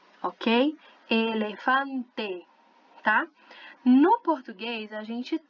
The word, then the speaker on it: elefante: Então, aqui, nessa palavrinha, a gente vai falar elefante, ok? Elefante.